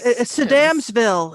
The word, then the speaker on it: Sedamsville: And then, of course, Where's Sedamsville is how you pronounce it, according to the Damsville?